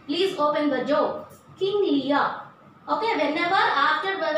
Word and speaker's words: Lear: Children, please keep in mind that whenever there is R after a vowel, we are not going to pronounce R.